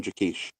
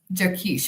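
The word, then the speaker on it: Jaquish: John Jakish. Jakkesh.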